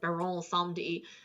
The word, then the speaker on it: Baron Samedi: Um, Baron Samedi. Well, it's actually like, it's supposed to be French pronunciation, so it's like Baron Samedi.